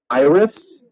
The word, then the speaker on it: iRiffs: Iriffs? Yes. It's not like the name Iris or like. Oh, no, not Iris, like in the I riff, like you riff a movie.